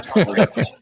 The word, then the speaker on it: Pantazatos: Yeah, Pantazatos.